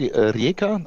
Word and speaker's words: Rijeka: How do you pronounce that? Yeah, the the airport is called Reeka.